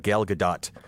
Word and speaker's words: Gal Gadot: And I'm told the T has to be pronounced, and so I feel bad.